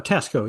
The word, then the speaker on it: Tasco: Well, Tasco.